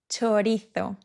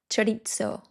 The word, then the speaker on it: chorizo: Chorizo. It's not chorizo. It's chorizo. So the Z and the O is tho. For example, su, tho. And the CHO is cho. So chorizo.